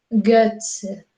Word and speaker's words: Götze: Es como decir lo mismo, la E y la O, pero con la mandíbula un poco más abajo y la lengua un poco más hacia adelante. Entonces diríamos fleur, fleur, Götze, Götze.